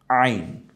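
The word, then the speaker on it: عين: দুইটা এই হরফটার নাম কি একটু দেখি তো আইন আইন আইন গলায় একটু চাপ দিয়ে উচ্চারণ করতে হবে হা এর মত যেখান থেকে কণ্ঠনালীর ঠিক মিডেলে আমরা এখান থেকে বলবো আইন এটা যদি আইন হয় এই হরফটা এখনো কি আছে আইন আছে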